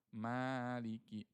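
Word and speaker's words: مَالِكِ: Tib selanjutnya Maliki Yaumiddin lagi. Nah, Tayb huruf ma. Ma itu hurufnya tipis ya. Jadi jangan bacanya mali tapi ma ma maliki. Ma dengan ma beda ya.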